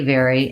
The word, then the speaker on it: very: He would like to know about the words very, very, and various. So these two words, very, like I'm very happy, and vary, like conditions vary, have the same pronunciation.